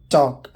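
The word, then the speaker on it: talk: टॉक, L silent है मतलब बात करना।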